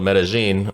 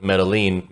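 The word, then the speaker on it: Medellín: was there I went to a city called metagen or a lot of people called it Metaline because you know there's two L's but they're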